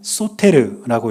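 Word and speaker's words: Σωτήρ: 그리고네 번째 단어는 휘오스라고 읽는데 이것은 아들이란 뜻입니다. 그리고 마지막 단어는 쏘르라고 읽고요.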